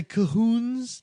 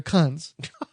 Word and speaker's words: Khund: Some people will try to say Cahoons, but it's spelled Khund. They're Kuns.